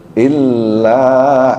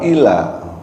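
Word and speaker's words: إلا: kita lanjut ayat keetujuh illa illa ada tasjid ya bukan Ila.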